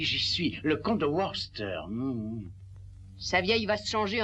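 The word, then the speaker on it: Worcester: connaiss ce titre ben Freddy lui aussi le prononce autrement mais ça séppelle W o r c e S T e r vous y êtes ah oui j'y suis le compte de warster sa vieille va se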